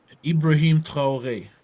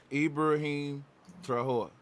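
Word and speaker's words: Ibrahim Traoré: I can't pronounce it. Ibrahim Traore, Ibrahim Traore.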